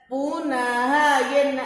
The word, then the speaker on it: पुनः: पुनः, ये न में क्या लगी हुई है? 2 बिंदी का आह, इसको क्या कैसे उच्चारण करते हैं? ह।